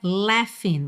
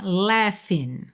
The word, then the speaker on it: laughing: o que temer, porque o som é laughing, você pensa num e com acento agudo e depois um f. Então, olha, laughing, laughing, all right? Mas a escrita é l a u g h i n g, ou seja, nada intuitiva.